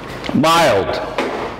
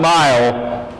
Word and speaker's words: mild: was that all about mild mild you can have a very severe severe headache or you can have a mild mild milder not mile mile is a distance mild is not so severe I had a headache